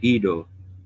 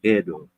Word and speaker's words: Edo: in terms of because most people when they read it they say Ido but the Japanese pronounce the town Edo and the uh Yoruba